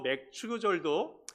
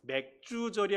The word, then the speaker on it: 맥추절: 또 맥추절도 맥주절이 아니고 맥주를 마시는 절기가 아니고 보리맥 가을추, 그래서 보리를 추수할 때 지키는 절기, 그것을 맥추절이라고 말합니다.